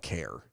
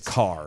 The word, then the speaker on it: Kerr: Because it's spelled Kerr. But it's Kerr. It's Care, obviously technically. enunciated Kerr. Right. It is, or it's spelled Kerr. It is enunciated car. It's car or care, technically. Yeah. Well, okay. The weirdos across the border in Virginia call it care. It's not care.